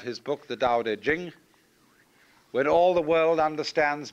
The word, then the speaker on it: Jing: pronounced duh and Jing there is no apostrophe after the CH so if there were it would be pronounced Ching but it's Jing like a j and so Jing in